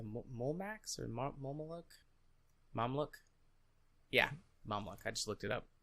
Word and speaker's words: Mamluk: Yeah, Mamluk. I just looked it up to make sure I was pronouncing it right.